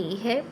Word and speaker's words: who: नो में के है, WHO हु W। नॉक्ड में के की साउंड नहीं आती। हु में W की साउंड नहीं आती।